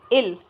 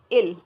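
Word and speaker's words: ils: इल। दे को क्या बोला जाएगा? इल। क्या बोला जाता है इसको? इल। क्लियर? इसमें एस भी साइलेंट हो गया है।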